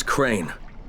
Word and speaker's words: Crane: the video store no my name's crane crane crane rhymes with train and brain and sane and grain and rain and plain and the other kind of plane and and can